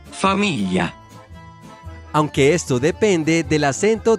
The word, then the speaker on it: famiglia: La pronunciación de la GL en italiano corresponde a la doble L en español en las palabras Pollo. y, Famiglia.